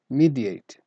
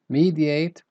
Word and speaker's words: mediate: Mediate. And this word has two pronunciations. You can say mediate or mediate.